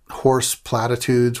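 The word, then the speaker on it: Hoarse Platitudes: one of them was Horse Platitudes, which was spelled like H-O-A-R-S-E, like horse voice like I have right now, and Platitudes, which was a take on the Doors' Horse Latitudes.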